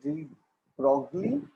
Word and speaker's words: de Broglie: Okay, so you will pronounce this word written as de Broglie as de Broglie.